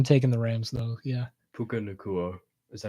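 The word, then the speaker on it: Puka Nacua: Puka Nakua, is that how you say his name?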